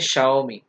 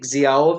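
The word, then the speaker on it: Xiaomi: जैसे शाओमी, एक्स आई ए ओ एम आई, अब ये जियाओ में नहीं है, दिस इज शाओमी।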